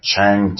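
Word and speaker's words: Trang: And Chang too, T-R-A-N-G. T-R is Ch sound. T-R-A-N-H is actually Chang, which is pretty Chinese sounding.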